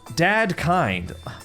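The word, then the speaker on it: Dedekind: Dad kind. Oh, well, what the hell is this? Wasn't that a German mathematician? Maybe it's a compilation of his work. Oh, so it's pronounced Dadkind.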